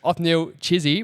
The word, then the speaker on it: Othniel Chisi: But first, Ofnil Chizy, welcome to the Dawson and Ilay show.